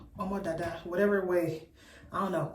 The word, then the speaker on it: Omo Dada: Welcome to Omo Dada's channel. That's how you pronounce my name. Omo Dada. Omo Dada.